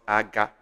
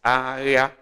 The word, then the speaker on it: area: This is not aga. It's area. Pronounce it right.